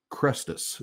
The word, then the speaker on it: Crestus: And I can never say it right, so I want to make sure that I say it correctly. So it is Crestus is the name of it.